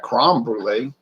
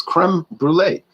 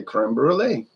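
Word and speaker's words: crème brûlée: crom brule i say it's not crumb brulee it's creme brulee now he'll laugh and say how do you say it i say creme brulee so it's almost like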